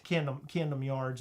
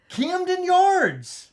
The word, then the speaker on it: Camden Yards: I said Camden Yards. You said I'm from Baltimore, Heather. Anyone who's from Baltimore doesn't pronounce it with a T.